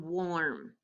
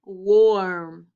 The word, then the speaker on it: warm: W also changes the sound of AR and OR as well. Let me show you. In the word worm, it's spelt with OR, but what does it sound like? It sounds like worm. OR, worm, Try it. And then we also have this person who's getting warm. Listen, warm.